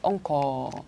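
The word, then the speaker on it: 温厚: 이거는 옹코라고 읽어주세요. 옹코.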